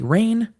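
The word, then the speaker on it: Rein: richard simpson esquire of wiley rain it makes me think of rain that's being sassy but it's spelled r-e-i-n but widely rain just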